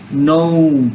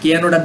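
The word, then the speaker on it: know: world অর্থ হচ্ছে পৃথিবী নো কে এনও ডবলিউ নো অর্থ জানা কেনডব কেন হবে না উচ্চারণ হবে নো নো অর্থ কি জানা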